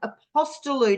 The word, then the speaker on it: Apostolou: have the absolute pleasure of speaking with Carolyn aposto now Carolyn please tell me I pronounced your last name correctly yes you have